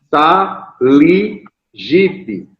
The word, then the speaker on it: SALIGIP: Saligipe. S-A-L-I-G-I-P. Saligipe. O P é mudo. P no final, P mudo, né?